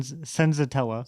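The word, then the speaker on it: Senzatela: Senzantella Zen Senzotella.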